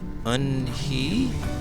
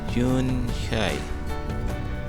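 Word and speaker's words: Unhei: "Your name is Un-hee?" he asked her with his eyes open wide. Yunhai looked quickly at Mr. Kim and then turned to Joey. She nodded slowly. "Yes, it's pronounced Yunhai."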